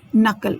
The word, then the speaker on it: knuckle: the alphabet K, and in the second one, the alphabet K is silent. And the word is knuckle. We see that there is no use of K over here, so we call it silent.